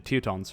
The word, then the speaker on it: Teutons: The Teutonics have like the most, I guess. The Teutons, rather, that's how you pronounce it.